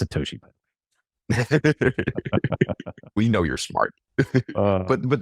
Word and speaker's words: Satoshi: It's Satoshi.